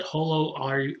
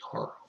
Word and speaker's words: Horo: Spell it Holo all you want. I replaced the L with an R. That's how it should be, Horo.